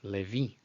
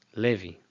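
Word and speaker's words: לוי: in a Pentecostal church, who isn't used to saying Levi? Levi. It's Levi. Levi. And in Ashkenazi pronunciation, I'm sure you've heard that Sari as Levi.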